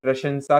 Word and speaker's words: प्रशंसा: पंडित जी ने अनुवाद को देख बहुत प्रशंसा की। प्रश याद रखिएगा इसका उच्चारण सही करिएगा। प्रशंसा होता है।